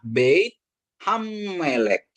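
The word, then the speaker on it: בית המלך: Jadi kalau ini bacanya Beit Hammelek ya.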